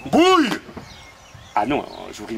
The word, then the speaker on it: bouille: Ah oui, j'aime que l'eau boue. Bouille. Ah non, je vous prie de m'excuser. À ma connaissance, on dit il faut que l'eau boue. Changez de connaissance. Ça s'écrit B-O-U-I-2-L-E et ça se prononce bouille.